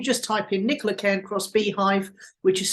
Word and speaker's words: Beehiiv: So if you just type in Nicola Cairncross Beehive, which is spelled BEEHIIV, you'll find me.